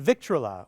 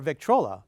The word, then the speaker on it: Victrola: Do you have something around your house you think might be a valuable antique, like a 1914 Victrola or Victrola? Believe it or not, both pronunciations are correct.